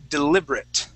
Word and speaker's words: deliberate: Okay, the next word is deliberate. Deliberate. Okay, so at that end where we have the A-T-E, instead of saying deliberate, we say deliberate.